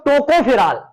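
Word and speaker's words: tocopherol: इसको टोकाफेरॉल भी कहेंगे, कहते हैं, बट यहां पर जो है ओ साइलेंट है, तो आप टोकोफेरॉल ही बोलेंगे, टोकाफेरॉल, टोकाफेरॉल मतलब कि ऐसे टोकाफेरॉल, ओके, टोकोफेरॉल।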